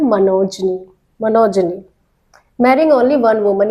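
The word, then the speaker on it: monogamy: देखिए वर्ड देखिए, इसका प्रोनाउंसिएशन है मनोजनी, मनोजनी।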